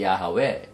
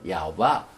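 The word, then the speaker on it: יהוה: 그래서 히브리어의 네 글자 요드, 헤이, 밥, 헤이, 야하웨, 야호바, 여호와, 발음은 여러 가지 있지만은 아도나이는 아니죠. 아도나이는.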